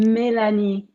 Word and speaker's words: Mélanie: Like I would have said like Melanie, but you said, what'd you say again? How do you say it? Mélanie. Yeah. Mélanie. Yeah, see, if I had